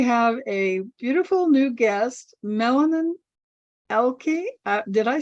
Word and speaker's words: Meilin: Welcome, Meilin. I said your name wrong. No worries. Maybe that's my new name. Meilin.